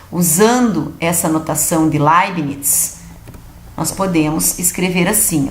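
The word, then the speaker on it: Leibniz: foi introduzida pelo matemático laires ó pronuncia-se lines está muito bem só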